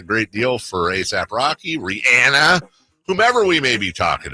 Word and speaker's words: Rihanna: It's actually pronounced Rihanna.